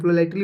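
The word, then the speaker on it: politely: तो पोलिटली बोलते हैं, इसको पोलिटली नहीं बोला जाता है, पोलाइटली बोला जाता है, ठीक है।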